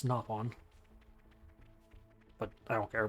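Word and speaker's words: Nopon: naon coins that is how you're supposed to pronounce it it's not noon it's napon but I don't care pronounce it however you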